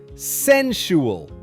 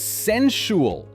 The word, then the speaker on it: sensual: It's pronounced sensual. Let's break it down. This word is often stretched too much, but the correct way is sensual.